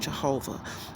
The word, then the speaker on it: Jehovah: name differently but in english his name is pronounced jehovah and so um and that's how he does